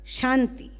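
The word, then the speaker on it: शान्ति: mantras for world peace peace in Sanskrit is called Shanthi please try to pronounce Sun tea after every mantra we will chant twice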